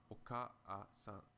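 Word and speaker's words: おかあさん: Because the same vowel sound is repeated twice, it is very awkward to pronounce the second a separately. In fact, if you pronounce oka-a-san quickly, oka-a-san, oka-a-san, oka-a-san, you will find that the second vowel easily merges with the first.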